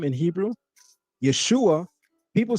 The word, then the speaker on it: Yeshua: And the shin is vocalized as shu, not sha.